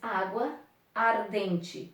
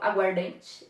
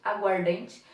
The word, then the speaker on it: aguardente: Nós não temos um A sendo pronunciado, eu não falo água ardente, eu falo aguardente, aguardente. Juntei dois As em um apenas, perceberam aqui? Então mudou o som.